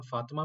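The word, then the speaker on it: فاطمة: पढ़ रहे हैं तो आप देखि कि बीच में आखरी ते नहीं पढ़ा जा रहा तो हम यह सीख लेते हैं आज के ते को प्रोनाउंस कैसे करना है जब जुमला खत्म हो रहा हो तो जब जुमला खत्म हो रहा हो तो ते को हा के तौर पर पढ़ेंगे ठीक है तो फातिमा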